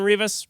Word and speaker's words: Rivas: I'm Rivas, Rhymes with Beavis.